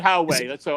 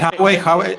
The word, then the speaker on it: Huawei: However you pronounce it, I believe it's Huawei is the correct way to pronounce it. I call it Huawei. Is it Huawei?